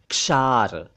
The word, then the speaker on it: क्षार: लोगों का समूह क्षात्र एक शब्द है क्षार क्षार क्षार नहीं क्षार इसका मतलब है सॉल्टी और